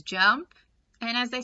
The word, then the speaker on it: JMP: information about jump so the jmp is pronounced as jump and as i said